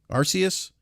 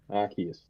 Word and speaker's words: Arceus: War Ragnarok five Pokemon Legend again I can't pronounce that falky what is it what is it again Arceus thank you Arceus I speak two languages so that's my excuse